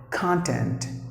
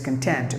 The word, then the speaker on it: content: other words two syllables if you give the stress for the first syllable it's a noun for example content the meaning is stuff